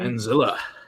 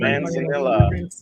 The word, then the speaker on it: Manzanilla: Manzilla. Or Manzilla, how you pronounce Oh, it? Manzanilla.